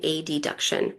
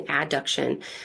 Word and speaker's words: adduction: Um and then we have abduction and a deduction. Now the proper way to say this is abduction and adduction.